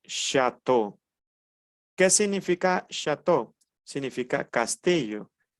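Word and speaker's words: château: eu se pronuncia o muy bien entonces yo pronuncio chato Qué significa chato significa Castillo lo escribo aquí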